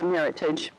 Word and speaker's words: Meritage: We had some red blends and Meritage, and that's how it is pronounced, by the way, ladies and gentlemen. It's a Meritage.